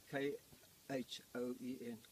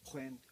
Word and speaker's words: Khoen: It's actually K-H-O-E and K-H-O-E-N, Khoen, Khoen, which incorrectly translated in the particularly the